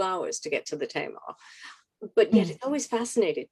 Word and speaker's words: Tamar: Perhaps you could tell us a little bit about uh it's it's pronounced the Tamar.